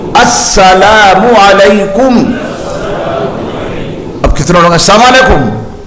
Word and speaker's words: السلام علیکم: نہیں ہوتا تو حضرت اسی وقت سلام کا تلفظ اس کا درست کراتے ہیں۔ السلام، حضرت پہلے ایسے یاد کراتے تھے، اتنا کہو السلام علیکم، السلام علیکم۔ اب کتنے لوگ السلام علیکم، یہ کون سا لفظ ہے؟